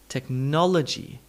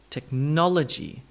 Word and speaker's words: technology: Nol gets the full sound, N-O-L, nol. But the vowel next to it becomes an technology, technology.